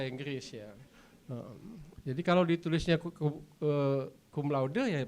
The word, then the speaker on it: cum laude: Bacanya memang cum laude ya, karena saya belajar dari Pak Dede, bahasa Latin itu apa yang ditulis itu yang dibaca gitu ya.